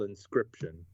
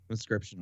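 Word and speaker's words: Inscryption: got it yeah it's it's spelt weird though it's it's i n s c y p t i o n yeah it's like you know like crypt but yeah so it's so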